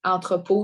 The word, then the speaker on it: entrepôt: Entrepôt, de ne pas oublier l'accent circonflexe, puis le T muet.